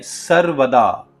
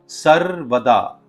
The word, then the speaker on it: सर्वदा: सर्वकारेशु फिर से एक बार सर्व कार्यशु और आखिर में सर्वदा ध्यान दीजिए कि इसमें जो आ का साउंड है वह लंबा है। सर्वदा यह दर्शाता है कि आप यह आह्वान हमेशा के लिए कर रहे हैं।